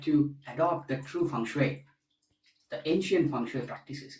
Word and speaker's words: feng shui: By the way, the pronunciation of feng shui is feng shui. Many people say that this is feng shui pronounced in a different way. But if we try to stick to as close as possible the ancient practices, then let us say feng shui, wind and water.